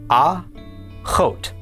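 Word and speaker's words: אחות: The olive is silent and the kamat is pronounced a. The is the kam is o. And remember the vav here is just part of the vowel. And finally the tav is t. Altogether this is pronounced aot.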